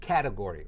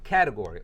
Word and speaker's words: category: cat tit Gouri its category right the T sort of becomes a light D sound sort of right so category or category when you say category